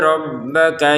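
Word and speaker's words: رَبَّكَ: Qalu ud'u lana rabbaka yubayyin lana. Lana 2 harokat, rabbaka tidak ada panjang, jadi jangan dibaca rabbaka yubayyin.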